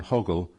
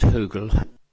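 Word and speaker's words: Høgel: Uh you do not know you tell us whether Carol Colburn Hoggle was a director of that company for a period of time. Is that your position? Uh it's pronounced Hoogle.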